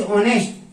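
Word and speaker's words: honest: राम इज ऑनेस्ट, राम ईमानदार है। हमने आर्टिकल पढ़ेंगे उसमें बताएंगे कि यहाँ पर जो एच साइलेंट होता है और ऑनेस्ट ओ की ध्वनि साउंड आने पर यहाँ एन का प्रयोग।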